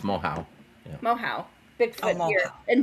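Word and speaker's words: Moehau: It's Mohau. pronounced Mohau.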